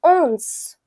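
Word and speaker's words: onze: So 11 is pronounced as owns.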